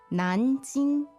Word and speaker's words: Nanjing: All right, so the tones on Nanjing. Second and first. Nanjing, Nanjing, Okay, so Nanjing Road again.